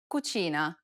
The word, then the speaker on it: cucina: I sounds together Chi this sound is identical to the CH in church the only difference though